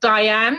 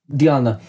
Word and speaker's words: Dianne: i do the full thing because it's not diane if you want to pronounce it in dutch it's diamond diana yeah see i thought so but i had